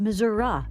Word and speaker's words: Missouri: stands up for Missour Thomas H Benton pronounced it Missoura but he is dead